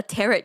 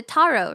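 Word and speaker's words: tarot: think I said I I called it a terret card because it sounds like carrots, but I think it's closer to taro, right?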